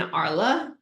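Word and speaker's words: Arles: for 2024 this year the cruise ends in ARA a r l s French words don't pronounce of the letters so that's where uh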